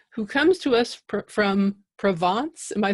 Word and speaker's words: Provence: sure okay Curtis who comes to us from Provence am I saying that right that's perfect yeah